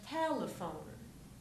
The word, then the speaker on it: telephone: most important is that the second e gets reduced so we have telephone telephone T not T it's not tone but t almost like you're jumping from the L to the pH remember that in English a pH together makes the F sound so if we have